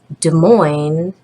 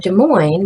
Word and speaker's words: Des Moines: say Ian is in Des Moines with a coin or I've got a coin in Des Moines because it Rhymes it'll help you remember